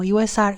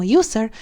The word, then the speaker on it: usr: y si se preguntan por qué lo pronuncio como usr y no como user es porque el directorio no significa usuario sino que significa Unique System resources Por lo cual se sugiere que se pronunci usr o usr pero ustedes pronuncien lo como quieran no no no es